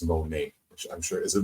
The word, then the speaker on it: Monet: Lynn I think it's Monae I'm sure is it Monae yes she's bobbing her in the Green Room okay I'm glad I got that right uh you don't pronounce the T she has a little